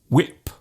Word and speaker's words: whip: Just let the sound leave your lips naturally. When, what, whip.